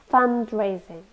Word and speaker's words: fundraising: fundraising it's a noun three syllables we stress the first one fundraising fund is money so